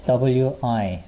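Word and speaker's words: ㅟ: we have this one we we and it's w i we wi right there okay and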